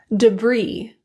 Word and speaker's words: debris: Illinois, Des Moines, core, debris, Viscount. T. T is a very commonly produced silent letter.